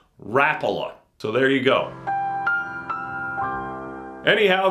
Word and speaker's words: Rapala: and by the way all you guys who say Rapala I get it I used to say that too but I asked them how to pronounce it a long time ago and they said rapola so there you go